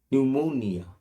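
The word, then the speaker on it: pneumonia: দেখো, পি এর উচ্চারণটা দেখো সাইলেন্ট, পি এর উচ্চারণটা নেই, অথচ বানানে আছে, PNE UMONIA, নিউমোনিয়া, তো bronchial problem, you will have নিউমোনিয়া, দ্য man said.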